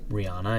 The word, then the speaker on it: Rihanna: love and monster and that would be Rihanna or Rihanna if you say her name like that I could have also